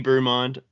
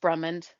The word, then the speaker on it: Brummond: chatting with we have bumand is that the right way to say your last name uh just brummond brummond I do like brumand